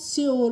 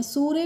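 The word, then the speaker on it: sure: Next है एस एस यू आर ई तो इसको हम श्योर पढ़ते हैं। सूर्य नहीं श्योर और श्योर की हिंदी मीनिंग होती है निश्चित।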